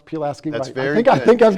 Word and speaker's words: Pulaski: city and pulaski county and i've learned to pronounce pulaski that's very i think i've got it okay